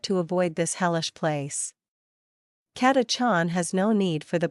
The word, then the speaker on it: Catachan: katachan pronounced catachon is the most infamous